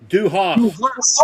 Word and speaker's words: du hast: Here's the pronunciation. Du Hast.